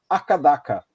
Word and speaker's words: AC/DC: Na Austrália, eles pronunciam Akadaka. Akadaka. É o Akadaka.